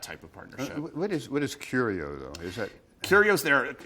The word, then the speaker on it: Curio: But what is it, Curio? Is that how you say it? Yes, a Curio collection.